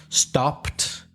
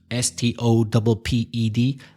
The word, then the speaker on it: stopped: For example, stopped, stopped, the e is silent.